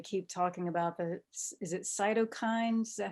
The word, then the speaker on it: cytokines: One of the things that we're hearing with COVID, they keep talking about is it cytokines?